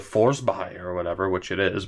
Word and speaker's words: Forsberg: be like oh well the proper Swedish pronunciation is more along the lines of force by or whatever which it